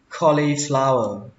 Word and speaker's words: cauliflower: Từ đầu tiên, các bạn đọc cho mình là cauliflower. Cauliflower. Từ này có nghĩa là súp lơ. Các bạn nhớ đọc là khờ nhé.